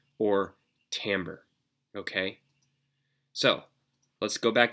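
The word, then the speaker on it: timbre: different instrument and that takes us finally to Tambor it's spelled Tim breath but it's pronounced Tambor and Tambor is the is the key to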